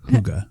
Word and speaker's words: Hygge: I think it's like, listen, I don't know, but I think it is a less pronounced and you just kind of like a Hygge. Not Hugg-ah.